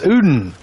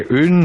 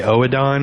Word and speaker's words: Oedon: You guys say Udin or Erdin? I know a lot of people think it's Erdin, but I like Udin better. Udin. And the less you pronounce the O-E, I've heard people say Oedon, and oh my god, dude, I lose my shit when people say Oedon. At least say Odin. If you just say Odin, I get it.